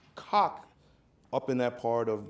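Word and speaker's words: Cocke: We pronounce it cock.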